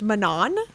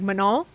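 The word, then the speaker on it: Manon: saying that they laughed at the way we pronounced Manan and because she's French and they don't say like the hard end so it's like manol and so that's how I've been saying it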